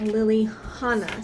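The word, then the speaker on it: Lillihana: with lily to make lily hannah so you are supposed to pronounce the h in there so the way you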